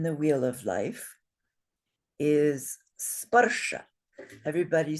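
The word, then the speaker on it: sparśa: How many syllables in this word? Two? Two. Yes. And how many beats in this word? Two. Two. And why is that? Why only two beats? Oh, short. All short.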